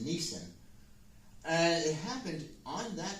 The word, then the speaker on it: Nisan: It's easy to mispronounce that like a car. It's not a car. It's not a Nissan. It's a Nissan.